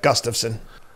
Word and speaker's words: Gustafsson: How do we pronounce him? Yep, you got it. Gustafsson.